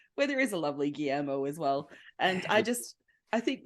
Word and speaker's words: Guillermo: to also just like tell people how to pronounce my name. Yeah. Okay. Helpful. Would you like us to do that? Like Guillermo. Okay. Okay. Guillermo. Oh God! Like I've had like Giggle and a Marimo, and I'm just like, how many extra letters